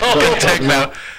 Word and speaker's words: contechno: We call it contechno. Contechno. Emphasis on the first 4 letters. Emphasis on the last 2.